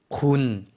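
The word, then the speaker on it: คุณ: 발음해 주시겠어요? 군, 네. 평성이에요. 군 하고 짧게 발음해 주시면 되겠습니다.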